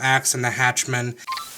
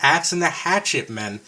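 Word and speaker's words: Axe and the Hatchet Men: This was the first song I heard from Axe and the Hatchman. Future Waldozer here. And uh I mispronounced it again. It's Axe in the Hatchet, Men.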